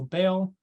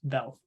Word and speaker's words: Bel: first deaths potentially also bail and whatever servants he has Bell not bail that is where we